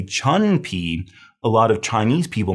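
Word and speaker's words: 椿皮: Remember, in Chinese pinyin, the U has an oo sound. Sometimes English speakers look at this and they want to say chun pi because they think the U has an sound.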